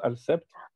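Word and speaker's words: السبت: En arabe, al-sept, ça s'écrit al-sabit, mais ça se prononce al-sept, qui veut dire septième jour.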